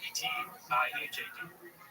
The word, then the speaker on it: Etihad: Etihad? How do you spell it? E-T-I-H-A-D.